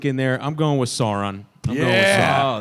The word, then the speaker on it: Sauron: Greg so you see Sauron everyone here knows how to pronounce that but as a kid you might read that and go sour on like did did you